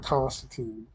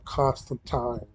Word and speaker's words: Constantine: I was gonna try to, if I want worlds, John Constantine, or I'm sorry, John Constantine is how it's supposed to be pronounced, in case you didn't know.